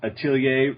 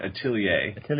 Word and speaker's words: atelier: learned how to speak how to say the word atelier it's french apparently for workshop yeah so now we